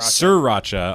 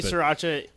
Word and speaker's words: sriracha: didn't aren't hearing sera sure racha on our stuff when we were three as my riata three racha yeah I say sure actually sure you watch it too because that's how it's pronounced well I'm I'm not